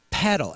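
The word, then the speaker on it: padel: Have you guys ever heard of paddle? And I think that's how you describe how you pronounce it. P A D E L. Paddle.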